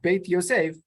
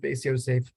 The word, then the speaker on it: Beit Yosef: He shortly pronounced his work Beit Yosef. So if I pronounce it Beis Yosef, it only betrays my Ashkenazi background, and you'll have to forgive me.